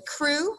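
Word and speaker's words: Kru: In this passage, I talk about crewmen, and that is spelled K-R-U. The crew were one of the indigenous groups that was living in Liberia at the time.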